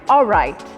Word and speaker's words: alright: When you're pronouncing, instead of L, pronounce it with W. So which is like, I am alright.